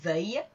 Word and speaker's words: veuille: Vous ferez attention à la prononciation. Aille pour aller et veuille pour vouloir.